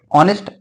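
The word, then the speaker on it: honest: तो जब कॉन्सोनेंट है हमारा, लेकिन जब इसको आप प्रोनाउंसिएशन करेंगे इंग्लिश में तो क्या आएगा, ऑनेस्ट। ऑनेस्ट आ रहा है तो वहां पर इसके हिसाब से हमने एन लगा दिया, एन ऑनेस्ट मैन।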